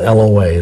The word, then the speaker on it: loa: lying and deceitful spirits of the voodoo loa, it's spelled L-O-A, loa, would be bound from influencing that person